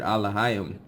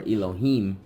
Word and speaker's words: Elohim: Anyway, so that's the actual they're using that word Alahayim, or Elohim as they pronounce it, as the rats pronounce it, as the Most High's name.